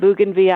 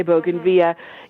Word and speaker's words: bougainvillea: And all of a sudden I turned and saw this bougainvillea, and some pronounce it bougainvillea, I say bougainvillea.